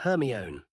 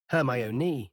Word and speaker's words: Hermione: He kept calling her Herion. Hermione, she said slowly and clearly.